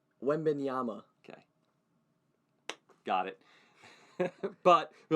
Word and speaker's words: Wembanyama: So we don't have to worry about pronouncing Wembamba. Wembanyama.